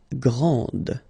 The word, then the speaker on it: grand: exactly the same thing this final D is not pronounced okay so and then